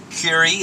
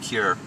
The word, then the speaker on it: Kure: We're going to take a tour of uh oh, Curi is how it's pronounced. Um it's not Cure.